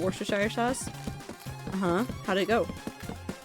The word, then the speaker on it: Worcestershire: Worcestershire sauce is the correct way to say it, I think.